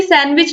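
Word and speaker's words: sandwich: जो साइलेंट है लेकिन इसको मोस्टली सैंडविच लोग बोलते हैं तो इसलिए यहां पर डी है यह साइलेंट है तो राइट आंसर डी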